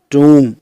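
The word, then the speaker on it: tomb: जैसे टूम इसको टॉम्ब नहीं बोलते, टूम।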